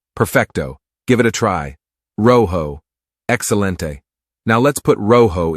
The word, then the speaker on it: rojo: it's quite simple the magic word is Rojo pronounced Roo that's right Roo is the key repeat after me Roo fantastic but hold on we don't just want